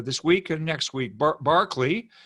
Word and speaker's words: Berkeley: it today uh this week and next week barkley pronounced barkley espel berkeley like the campus uh in california but it's his name in in britain is pronounced barkley he's an irish irishman but barclay is the pronunciation and barclay's going to defend a very